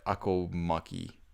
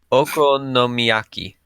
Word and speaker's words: okonomiyaki: Tempura or not even gonna try akomaki. Okonomiyaki. Okonomiyaki. You're better at pronouncing that.